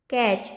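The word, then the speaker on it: catch: हो जाएगा went to कैच C eighty सीच से क्या होगा यहां पर क्या है टी साइलेंट है इसको क्या पढ़ेंगे कैच टीम से देम ओके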